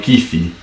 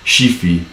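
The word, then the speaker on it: Chiffi: And the referee is Daniele Kifi, or Shifi. How would you pronounce that? Yeah, I would say Kifi.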